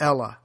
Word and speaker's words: Helle: the Greek Royal Navy, the Ella, spelled H-E-L-L-E. The H is silent.